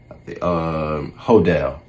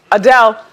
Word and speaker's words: Adele: Hodel. That's what she called her. She called her Hodel, and she mispronounced the word saw, and she was just very out of all over the place.